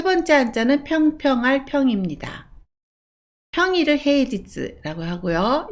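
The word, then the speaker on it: 平日: 그리고 하나로 읽을 때는 누시라고 읽습니다. 세 번째 한자는 평평할 평입니다. 평일을 헤이지츠라고 하고요.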